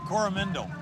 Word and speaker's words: Coromandel: Now, you're the mayor, or let me see if I say it right, Coromandel.